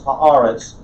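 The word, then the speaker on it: הָאָרֶץ: be able to pronounce haaretz, because whenever it's articular, meaning it has the article on it, the hey with the patak and the dagesh forte, double dagesh, it will change to aretz, haaretz.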